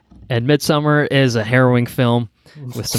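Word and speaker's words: Midsommar: a film called midsummer midsummer if you want to guess I'm look that's the correct Swedish pronunciation of it have either of you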